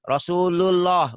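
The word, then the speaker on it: رسول الله: Ini Rasulullah. Bukan lullah. Lullah.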